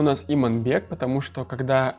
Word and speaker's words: Иманбек: Ну, там я, видимо, неоднозначно как-то высказался, плюс ко всему половина комментариев состоит из того, что меня поправляют люди, как правильно говорить, не Иманбек, а Иманбек.